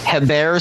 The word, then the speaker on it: Hebert: Kyle, and then last name is Hebert, so like Herbert.